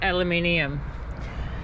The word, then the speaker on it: aluminium: thing we say differently we call it aluminium and everyone finds it hilarious when the Americans say it another way by the way that's